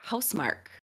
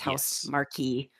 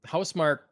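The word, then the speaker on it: Housemarque: uh the returnal developer house mark i believe is how you say it i don't think it's house marquee nope okay um so yeah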